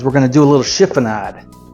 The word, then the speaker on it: chiffonade: And then what we're gonna do is we're gonna do a little chiffonade. That's Italian. I looked it up, and it's pronounced chiffonade.